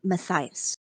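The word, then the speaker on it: Mattahius: ask the same thing you can call me maias can you spell that m a t t a h i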